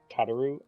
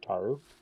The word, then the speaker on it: Tataru: for your knowledge organs i've actually heard both ways that you just pronounced that i've heard tataru and i've heard taru yeah probably from the characters themselves yeah i well more often than not you hear tataru but most people just pronounce it yeah so take your pick with that one let's see the cast